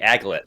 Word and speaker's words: aglet: That's the aglet. Aglet. My bad. I pronounced it incorrectly.